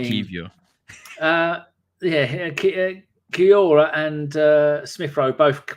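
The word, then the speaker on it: Kiwior: No, there's no V in it. Kivior. It's pronounced Kivior.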